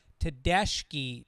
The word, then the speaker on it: Tedeschi: According to Brother Wheeze, a radio host in Rochester, New York, it is pronounced Tedeschi trucks. Hopefully, you were saying Tedeschi.